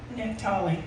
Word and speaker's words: Naphtali: Naphtali. I can't never pronounce that.